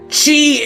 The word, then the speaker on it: χ: dumbass Chi is pronounced like Kei sake